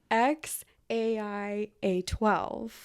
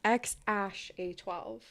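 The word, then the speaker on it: X Æ A-12: give you both um the kid's name in Grimes pronunciation is X a i A2 and in elon's pronunciation it's X Ash a12 so the difference is like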